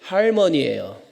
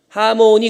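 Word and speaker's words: harmony: 영어로 화음이 영어로 뭐죠네 정확한 발음이 할머니예요 아 진짜요 예 하모니 그럼 못 알아들어요 할머니예요 어이 십자가의 길을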